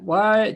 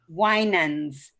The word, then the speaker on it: Winans: Winans. Correct. Winans. Say it one more time. Winans. Winans. Long I.